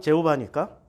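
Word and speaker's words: Jehovah: 영어 발음 제호바니까 제호바.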